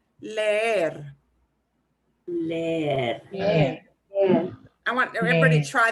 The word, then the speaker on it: leer: And now we've got two E's next to each other. So that means we'll pronounce them each. So it'll sound like I'm dragging it out. It'll sound like this. Leer.